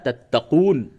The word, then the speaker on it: تَتَّقُونَ: تا زبر تت، تا زبر تا، تت تا، قاف واو پیش قو، تتقو، دون زبر نا، تتقون. وقف کی حالت میں کیا ہوگا؟